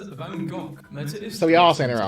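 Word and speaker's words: Van Gogh: Americans saying Van Go is pronounced Van Go. British saying it's pronounced Van Go. It's a Dutch name and Dutch pronounce it as Vangok shut down Facebook and Instagram in Europe.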